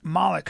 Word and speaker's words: Malik: I like the soft A.